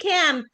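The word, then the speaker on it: camp: لكن البي اللي هي الفويسلس بي اللي بيطلع منها هوا كتير، دي تتنطق عادي. زي بنقول كامب، كامب.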